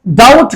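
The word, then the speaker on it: doubt: अब फिर बाद में इसको डाउट बनाया गया और इसमें बी का इजाफा भी किया गया, पर बी को प्रोनाउंस नहीं करते हम इसको प्रोनाउंस नहीं करते, इसका तलफ़्फ़ुज़ जो है वो हम नहीं करते.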